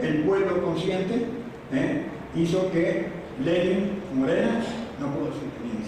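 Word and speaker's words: Lenín: Por supuesto, la fórmula Lenin, no digo Lenin de América, no sé si me exagero, pero el Lenin, pero con acento en la isla, y Jorge Glass han ganado las elecciones.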